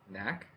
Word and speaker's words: Knack: How you pronounce it? Knack.